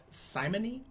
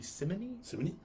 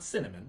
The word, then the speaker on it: simony: had a situation called simony or it might be simony it's not cinnamon cinnamon symphony if you